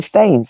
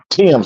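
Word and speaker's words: Thames: would look at it and you would say themes it's not themes it's the river THS that's how it's pronounced it's like the you you would pronounce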